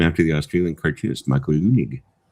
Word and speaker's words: Leunig: So, uh correct pronunciation, too. Named him after the Australian cartoonist Michael Leunig.